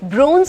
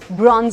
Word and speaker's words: bronze: सदियों से ये कंफ्यूजन चली आ रही है कि BRONZE ब्रोंज होता है कि ब्रॉन्ज होता है, ब्रोंज होता है कि ब्रॉन्ज होता है। ओके, ब्रॉन्ज होता है। ब्रिटिश, अमेरिकन दोनों प्रोनाउंसिएशन इज ब्रॉन्ज। ब्रॉन्ज।